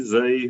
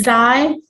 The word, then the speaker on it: Zai: Next we have, is it Zay? How do I pronounce? I don't want to. You're muted. It's Zai.